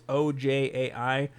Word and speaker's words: Ojai: It's either Ojai or Ojai, California. It's Ojai. If you're from there and you listen, I apologize. I've never even heard of it until I researched it. But Ojai, California.